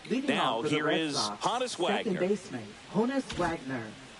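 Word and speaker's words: Honus: Honest Wagner. Is it Honest or Hannis? It was Hanis.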